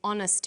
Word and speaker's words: honest: we use n so we say a happy man but an honest man the H is not pronounced so honest sounds like